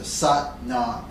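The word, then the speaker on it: Sat Nam: set not sucked not it rhymes with but mom so suck not sought nod means truth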